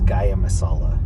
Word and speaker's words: Gaia: I think it's Gaia Masala. But don't take my word for it cuz Linda always says that I say it wrong. I think I was saying gia masala. It's ga masala.